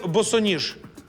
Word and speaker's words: босоніж: так ні академія маленькими на який склад падає наголос у слові босоніж на другій правильно як перенести слово НАТО